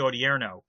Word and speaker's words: Odierno: as behind this strategy as Hagel is particularly Odierno did I pronounce that correctly yes yes and Odierno is